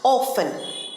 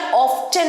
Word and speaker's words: often: পরের ওয়ার্ডটা হচ্ছে প্রায়ই, অফেন। অফেন, অনেকেই এটা অফটেন বলে থাকে, বিশেষ করে আমেরিকান প্রনাউন্সিয়েশনে অফটেন বলা হয়ে থাকে, কিন্তু এর সঠিক উচ্চারণ অফটেন নয়, অফেন। অফেন, টি সাইলেন্ট।